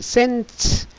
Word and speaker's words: scents: scents. S는 묵음이에요.